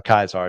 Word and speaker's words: Caesar: image of their Caesar or kaisar if you're going to pronounce it correctly across the Wasteland he